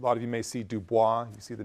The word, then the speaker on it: Du Bois: Du Bois, someone who, a lot of you may see Du Bois, you see the name, it's Du Bois, that's the way his family pronounced it.